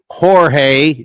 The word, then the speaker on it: Jorge: And I know it's pronounced Jorge, J O R G E, but he goes, "Don't call me Don't call me Jorge."